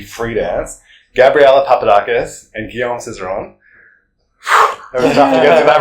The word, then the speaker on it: Guillaume Cizeron: scores for the free dance Gabriela Papadakis and Gom Cerone was to get to that pronunciation thanks so much for for talking to